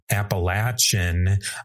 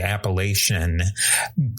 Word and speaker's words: Appalachian: Some say Appalachian, others say Appalation. I'll be sticking with the Appalation pronunciation myself.